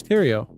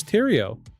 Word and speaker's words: Thériault: Um, it is a French spelling. It looks like it looks like it's spelled Theory, but it's pronounced Tio according to Google.